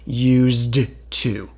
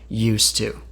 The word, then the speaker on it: used to: thing about the pronunciation used to has a d but we don't hear the D no one actually says used to because that's too difficult to say we just say used to also when two is